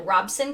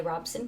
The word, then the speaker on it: Robeson: accurate pronunciation for for robeson county so she said uh that locals call it robson county um it says she said if i want to sound like a local i should say robson county but a apparently